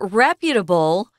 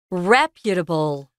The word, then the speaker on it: reputable: We change the 重音 or the strong syllable. Reputable, not reputable or reputable. Reputable and reputation.